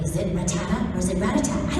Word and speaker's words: Rattata: So it's Rattata. And I would come in, and every time I'd go, and one of the files wasn't labeled. I'm like, is it Rattata or is it Rattata?